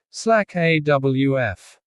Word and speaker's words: slack off: The word slack sounds like slake. The word off sounds like awf. Together they sound like slack awf.